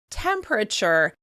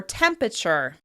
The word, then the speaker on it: temperature: You may hear people pronounce "temperature" as "temperature," "tempreture," "temperture," or "tempature."